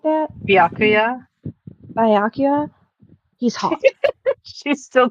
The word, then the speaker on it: Byakuya: No, it's you pronounce the O with U, and then you add a ya on the end. Byakuya.